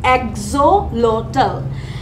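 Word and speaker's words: axolotl: একটা প্রাণী তো এটার নাম হচ্ছে এক্সোলোটাল এটার প্রোনাউন্সিয়েশনটা হচ্ছে এক্সোলোটাল তো এই যে প্রাণীটা এটার নাম কিন্তু আমরা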